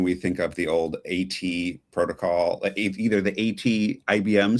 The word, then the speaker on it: AT Protocol: It's at protocol, which makes sense. It's the at sign, right?